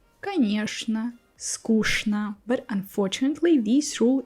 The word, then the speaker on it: конечно: Sometimes ch sounds like sh. Also, you can hear many words like this. Что, конечно, скучно.